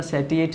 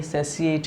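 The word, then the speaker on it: satiate: ध्यान से प्रोनाउंस करना इसको बेटा, सेटिएट नहीं है ये, सेसिएट है, क्या है, सेसिएट द हंगर।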